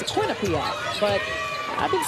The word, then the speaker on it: Quinnipiac: just showing what they can do against this quinnipiac team it's got some fight in them but